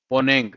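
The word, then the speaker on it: Mponeng: पोनेंग, आप इसको याद रख सकते हो, एम साइलेंट है, एम पोनेंग, पोनेंग माइन, ये गोल्ड की माइन है, पूरी गोल्ड की माइन है, deepest mine in the world.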